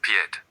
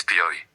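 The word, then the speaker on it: pied: Pi that means foot is not per it's pi. The d disappeared.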